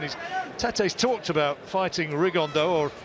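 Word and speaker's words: Rigondeaux: tattos talked about fighting rig on though or as he's correctly pronounced with the Spanish accent rig on Dow and shoe absolute geniuses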